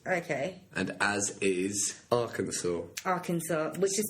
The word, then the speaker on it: Arkansas: Arkansas, which is spelled Arkansas.